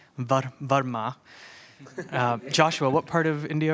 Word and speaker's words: Varma: Varma, though even in saying it that way, that's already an anglicized pronunciation, right? So it would be Varma.